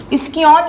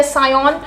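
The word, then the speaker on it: scion: स्कियोन या सायोन दोनों ही प्रोनाउंसिएशन है इसके लिए, और इसके रूट पार्ट को हम कहते हैं स्टॉक।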